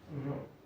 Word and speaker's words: rho: You can pronounce it as a rho, RH-O.